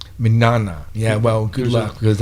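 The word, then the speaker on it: Mignogna: um so so so Vic's last name is minana minana yeah well good luck because I I don't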